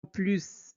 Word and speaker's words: plus: Quand plus exprime une négation, on ne prononce pas le s.